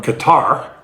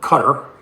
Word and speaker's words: Qatar: So anyway, the reason I showed that is now Trump is going to accept a plane from Qatar or Qatar. People pronounce it differently.